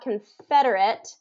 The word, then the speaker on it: Confederate: So we still have Confederate. Fed is the stress syllable on both of these. Federate and Federacy. But if I'm going to pronounce them, I'm going to write them out. Confederate is going to have an it ending, Confederate, and then Confederacy is going to be issy at the end.